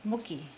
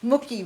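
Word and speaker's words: Mocki: No, you don't say it Maki. It's Mookie. I never can get that umlaut sound in there. Mookie.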